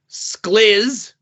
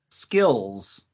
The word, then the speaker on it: SKLZ: clickthrough this week include the slizz um that's how I you would pronounce sklz SK oh what skills I'm pronouncing it SZ